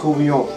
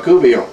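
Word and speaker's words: courtbouillon: No, we just said we're going to cook a courbouillon. A courbouillon? A courbouillon. And how do you spell that?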